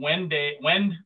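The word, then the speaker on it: Wende: She serves on the advisory committee of the Wend Museum. I hope I got that correct. Choi, is it Wend or Wenday or some other pronunciation?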